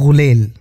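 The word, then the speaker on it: ग़ुलेल: जैसे ये है गुलेल उसको हम लोग गुलेल बोलते हैं पर वो ग के नीचे नुक्ता है और व है गुलेल गुंचा गुंचा बोलते हैं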